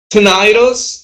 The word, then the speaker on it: tinnitus: Tinnitus or tinnitus. Remember, you can pronounce it either way because you can use the American way of the British way.